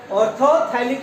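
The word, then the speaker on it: orthophthalic: ऑर्थोथैलिक acid, है ना? T silent भी कर क्या पढ़ सकते हैं इसको।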